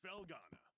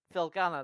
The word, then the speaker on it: Felghana: all here we are this is felana felana that's how you pronounce it oh I press